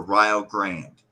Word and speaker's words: Rio Grande: community around here um it's called ryo grandy ryo grandy or ryle grand okay like the rio grande like the rio grande but they say right why i don't know